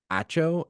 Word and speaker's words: Acho: next Point comes from Emmanuel acho AO I think is how you say his name it's on uh speak